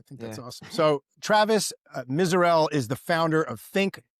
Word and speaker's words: Misurell: Excited to be here today and introduce you to Travis Miserel.